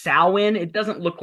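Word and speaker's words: Samhain: pronounce that some it's pronounced yes it's pronounced sin.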